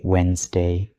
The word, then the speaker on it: Wednesday: Look at this word, Wednesday. Many beginners try to pronounce every letter, but native speakers simply say Wednesday.